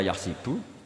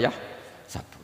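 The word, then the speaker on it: يحسب: Karena dalam qiraat sab'a ada yang baca yahsibu, qiraat kita baca yahsabu. Tapi guru-guru kita kalau ngajar fikih itu bacanya yahsibu. Tapi kalau baca Quran yahsabu. Ya kan Quran kita kan ayah sabu Allah yaqdiru alaihi ahad, bukan dibaca ayah sibu.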